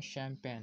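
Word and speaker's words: champagne: जी ने भी कि यहां पर जिस साइलेंट होता है जब हम पढ़ते हैं शैंपेन है इसीलिए इसकी स्पेलिंग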